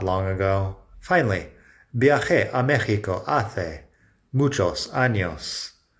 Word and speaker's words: viajé: Viajé a México hace muchos años. Listen to the pronunciation there. Viajé with kind of a ch sound.